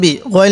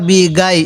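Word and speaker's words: بغير: বাজের বি, গয় লাগবে এই ইয়ার সাথে গয়, বি গয়। অনেকে আমরা বি গাই এরকম করে পড়ি, এরকম করে পড়ব না। র লাগবে এই লামের সাথে রিল, বি গয়রিল, বি গয়রিল।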